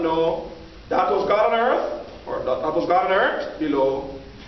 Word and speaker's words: earth: But in part where you would leave the H off and say earth. And you also add a glottal stop to the vowel. So instead of earth, you say earth.